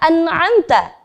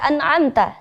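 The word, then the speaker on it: أَنْعَمْتَ: Biasanya seringkali terjadi kesalahan ketika ada nun sukun bertemu ain, itu ada bunyi pantulan pada huruf nun. An'amta. Hati-hati. An'amta. Itu tidak boleh.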